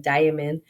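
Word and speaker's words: daimon: I always want to say like demon because it sounds like demon, but it's not demon. It's like diamond.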